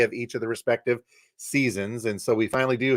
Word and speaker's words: SZNZ: Think spring, the first of the Weezer seasons, but it's spelled SZNZ.